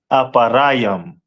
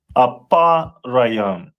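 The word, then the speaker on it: אפרים: And in Hebrew it is pronounced as aparam. Mhm. And the meaning aparam which means I am doubly fruitful.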